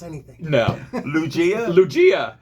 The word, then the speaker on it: Lugia: So this is a Lugia. It is a steam blast. Here. We wouldn't be able to pronounce anything. No. Lugia?